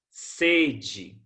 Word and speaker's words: sede: Sede, com o E fechado, substantivo. Tenho sede à noite. Já o sede, com o E aberto, é local, estabelecimento.